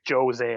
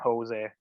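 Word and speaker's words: José: i learned like um they pronounce their js in portuguese but they don't in in spanish it's like a hitch like a yeah so like jose and jose i just i only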